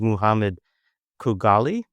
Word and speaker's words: Mohamed Khougali: So our guest is Muhammad Kugali. Um, and he did let me know that that's an acceptable English uh variation of his name. Uh, that it's pronounced quite differently in Arabic, but I'm not going